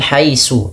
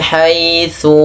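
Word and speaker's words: حيث: Ts hati-hati jangan membacanya dengan su ya jangan wamin haisu tapi wamin haitu wamin haitsu khorjta fawalli wajhaka.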